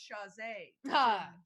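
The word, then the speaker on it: Chasez: And it's pronounced chaise. JC, as in, please call me. In sync.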